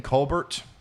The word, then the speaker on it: Colbert: am in Kentucky oh they pronounced the T in Colbert I don't think I've ever seen Colbert before other than when ref other than like referring to Stephen Colbert so that's probably why I automatically go to that uh that pronunciation here's a view from